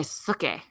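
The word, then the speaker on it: Sookie: so they all say Suki, right? Really? I think it's like the same name. Okay. Spelled the same. Well, it's like cookie, but with an S instead of a C.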